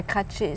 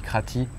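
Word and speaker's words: Kratie: ensuite on a été Crati Crati ouais ou bien crraatché enfin sur les cartes c'est fait jamais la même chose je crois qu'il le prononce comme ça ouais parce que quand il dit Crati il comprennent pas euh bon le voyage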